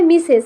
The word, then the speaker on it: Mrs: MRS, এটার উচ্চারণ হয় মিসেস, মানে সে বিবাহিত না অবিবাহিত?